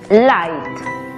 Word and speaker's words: light: Aplicando la regla, la GH es muda y la I toma su sonido abierto. Por lo tanto, la pronunciación es light.